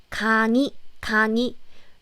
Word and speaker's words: 강의: It's not 의 since it's in the middle. So it's 강의. But again, it's acceptable to say 강의. 강의 is totally okay. But native Korean people say it like 강의 more commonly because it's easier to pronounce it.